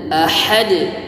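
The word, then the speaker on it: أَحَدٌ: jalalah dengan tebal tafkhim, hu ahad, alif, ha dan dal, ahad. Baik, qalqalahnya tadi diingat, jangan sampai seperti tidak dengan hukum yang berlaku ahad, seperti ada baris pada huruf dal di ujung ahad.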